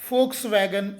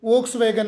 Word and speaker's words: Volkswagen: ಅಂದ್ರೆ ಕಾರು ಜನರ ಕಾರು ಅಲ್ಲಿ ವಿ ಅಕ್ಷರವನ್ನು ಫರಿಸುವುದರಿಂದ ಇದನ್ನು ಫೋಕ್ಸ್ವಾಗನ್ ಎನ್ನಲಾಗುತ್ತದೆ ಸೋ ಇವತ್ತಿನಿಂದ ಲಕ್ಷದಲ್ಲಿ ಇಡಿ ಯಾರಾದರೂ ವೋಕ್ಸ್ವಾಗನ್ ಅಂದಿದ್ರೆ ಫೋಕ್ಸ್ವಾಗನ್ ಅನ್ನಬೇಕು ಮುಂದಿನ ಶಬ್ದ ಪಿಓಆರ್ಎಸ್ಸಿ ಪೋರ್ಷ